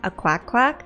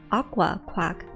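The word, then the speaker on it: Aquaquack: And then OP responded saying, so it's pronounced aqua quack and not a quack quack. And then someone was like, yeah, that's how it's pronounced. It's pronounced aqua quack.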